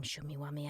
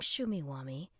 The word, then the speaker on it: Shumeewamee: who was just wishing for a superhero King shumi wami asked that was priv it Russ protested you